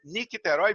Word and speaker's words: Nicterói: Eu perguntei a ela se é o sobrenome dela, Nicterói, e é Nicterói mesmo.